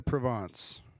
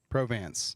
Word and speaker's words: Provance: All right, next we have Maranda Provance. Correct? Mostly? Provance, sorry. I speak a little French. That's how you say it in French.